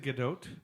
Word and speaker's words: Gadot: You actually pronounced the T. Is it Gadot? Yeah, It really is.